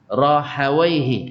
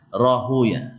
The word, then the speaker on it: Rahawaihi: Rahawaihi kata orang Nahwu. Kalau orang hadis baca Rahuya.